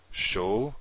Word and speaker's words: Shoftim: So we'd say this something like shoftim. Shoftim. We would not say shoftim. We would not make this silent and say shoftim. Be shoftim. 3 syllables.